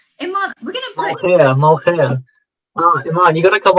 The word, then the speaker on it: Molokhia: Yeah, I really want to know about this dish and how to pronounce it correctly, please. Well, it's called Molokhia.